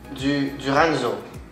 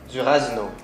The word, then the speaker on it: durazno: Duranzo. Si. Nectar de. That's exactly what I said. Durazno.